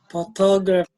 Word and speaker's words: photography: Photography. Not P sound, but the F sound.